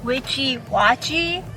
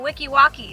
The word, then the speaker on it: Weeki Wachee: say something real quick i think this place is actually pronounced witchy watchy or wiki watchy definitely not wiki walkie like we've been saying so just wanted to clear that out that that's how it's pronounced so you're pronouncing you're